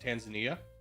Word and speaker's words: Tanzania: By the way, it's pronounced Tanzania, and you haven't done it?